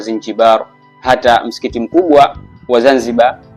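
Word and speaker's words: زنجبار: Na hadi leo Zanzibar kwa Kiarabu unapoiandika unaiandika Zinjibar, na utamkaji wake kwa Kiarabu inatamkwa Zinjibar.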